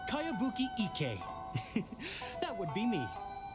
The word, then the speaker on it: Kayabuki: this is a really strange name who's this cowabunga it's pronounced kayabuki ek that would be me outlander brigade is